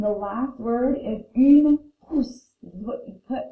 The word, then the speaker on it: trousse: And then trousse, like kind of like a truce after an argument or after a war.